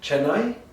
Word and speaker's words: Chennai: Or I remember I had a meeting with the UNICEF office in Chennai. In India. Yeah, have you heard the city, Chennai? Yeah, Am I Chennai.